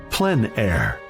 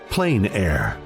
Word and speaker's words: plein air: which means open air or Outdoors the French pronounce it PL air others say plain air no matter how you say it there is